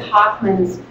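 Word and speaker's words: Hochman: In the sentence writing curriculum, it's more than a sentence writing curriculum, Judith Hoffman's work on building sentences is really outstanding.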